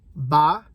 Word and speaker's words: ba: little dots under them, but M-O-T is how that's spelled. Mo, that's one. Hai is two. I'm pretty sure that's H-A-I. Ba is three, which is B-A, but there's a